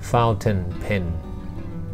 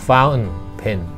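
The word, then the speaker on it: fountain pen: ก็ เฝ้า เท็น เท็น ฟาวเท่น เพ็ญ อัน นี้ เป็น สำเนียง อังกฤษ จะ อ่าน ตรง ๆ แต่ ถ้า สำเนียง อเมริกัน จะ ออก เสียง ฟ้าว เพ็ญ เฝ้า เพจ นะ ครับ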